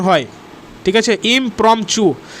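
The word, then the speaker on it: impromptu: এটার উচ্চারণ হচ্ছে অ্যাকচুয়ালি ইমপ্রম্পচু, TUHU উচ্চারণ হয়, ঠিক আছে, ইমপ্রম্পচু। তো ইমপ্রম্পচু মানেও হচ্ছে a speech delivered without previous preparation.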